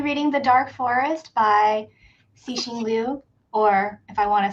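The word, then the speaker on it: Liu Cixin: I'm I will be reading The Dark Forest by Singlu, or if I want to say it correctly in Chinese, Leing.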